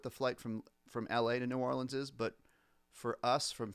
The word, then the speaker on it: New Orleans: So I go on this trip to New Orleans with New Orleans, or as they say, the locals say, Nolans.